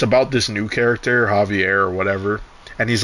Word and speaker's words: Javier: Like it starts with a J, but you don't pronounce it with a J. You know what I mean? Like is it Javier? Javier.